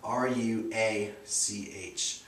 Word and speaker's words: Ruach: definitely worth checking out, and that's Ruach, R-U-A-C-H. You just don't pronounce the C-H.